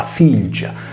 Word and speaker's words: Fìlgia: il locutorese, il campidanese, tale voce è pronunciata filgia, tenendo la liquida l e degradando il suono da friccato al violare Z a quello palatale g.